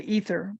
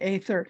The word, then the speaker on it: aether: the same as Aether Americans say ether but it's actually Aether and scientists have now